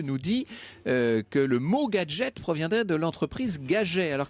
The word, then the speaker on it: Gaget: dit-on par un fondeur qui s'appelait gager et prononcez gadgets comme les américains prononcé gadget c'est devenu effectivement bon